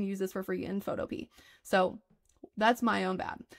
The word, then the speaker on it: Photopea: It's one of the two, but I just think of it like P, like peas in a pod. So that's how I say it.